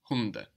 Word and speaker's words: Hunde: And we notice also that the D is soft again, because it's not on the end of the syllable like in der Hund. Die Hunde.